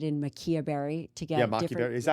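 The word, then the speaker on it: maqui berry: And then we added in maquia berry to get maquia berry.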